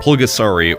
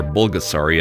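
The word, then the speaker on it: 불가사리: Pulgasari, or Bulgasari as it's pronounced in Korean, is a 1985 film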